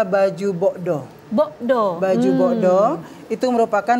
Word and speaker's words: baju bodo: iya oke baik ee baju bodo itu sendiri sebenarnya pengucapannya adalah baju bokdo bokdo baju boko itu